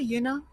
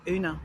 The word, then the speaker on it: Yuna: And I'm sure I've I'm sure I've been pronouncing your name incorrect over the years as well, over the months as well. You know, I think I used to call you Una at the beginning, but um I'm sure it's Yuna.